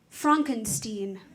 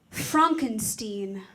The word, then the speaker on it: Frankenstein: That's Frankenstein. I beg your pardon? My name, it's pronounced Frankenstein.